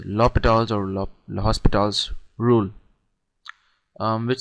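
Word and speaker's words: L'Hôpital: it is spelled um I mean it's written hospital but it's it's U pronounced hital I don't know but it's lital or hospitals rule um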